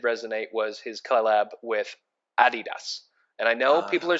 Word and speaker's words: adidas: was his collab with adidas and i know people are saying hey why are you saying adidas is so weird that's how they pronounce it in europe and that's where they're from so nice adidas so cool